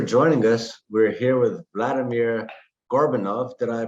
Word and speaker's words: Vladimir Gorbunov: We're here with Vladimir Gorbunov. Did I pronounce that correct, Vladimir?